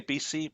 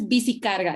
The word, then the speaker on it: bici carga: So a couple of questions came in very much about the do we say BC project? Is that how to say it? BC? BC? In Bogota, it's bici carga.